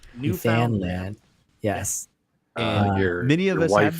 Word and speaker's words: Newfoundland: from california iowa arizona and newfoundland am i pronouncing that correctly newfoundland newfoundland yes many of us have been your wife